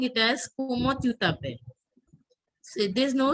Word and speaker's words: comment: So como, it is comment, but you have to pronounce it as como.